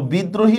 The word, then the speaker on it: বিদ্রোহী: হসন্ত দরফালা ওকার হলস্কার বিদ্রোহী শব্দের মাঝখানে রফলা আসছে এজন্য আমরা কি করতেছি এখানে দটা আমরা দুইবার উচ্চারণ করতেছি থাকলে অনুস্বার হয় এইটা